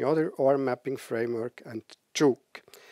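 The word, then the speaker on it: jOOQ: or mapping framework and Juke so I pronounce it juk that's because I'm Swiss there are different pronunciations you can also use JQ so it's probably the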